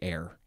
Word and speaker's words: e'er: So you want to say ever, and then you just say air.